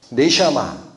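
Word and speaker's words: נשמה: 이 생기가 히브리어로 네시아마라고 읽힙니다. 네시아마.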